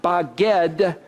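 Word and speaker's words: בגד: in Hebrew is that the word spelled bet gimel dalet pronounced by God means to deceive betray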